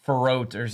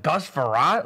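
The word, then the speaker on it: Frerotte: one-on-one Gus farant but they called him like ferrotors like they butchered his name because they just don't know who he is they're like who is this guy I'm like Gus ferrat Legend interesting Denver Broncos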